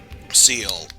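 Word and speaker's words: Ciel: Seal, I believe. Seal. I always think it's like Seal, Seal, or... Yeah, it's seal. It's French for sky.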